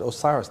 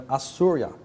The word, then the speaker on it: Osiris: They didn't pronounce it Osiris. They called him Assurya, the son.